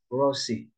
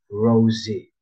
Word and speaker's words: Rosie: it's the word Rosie you said it like you pronounce it like Rossi but it should have been Rosy z sound right you get it all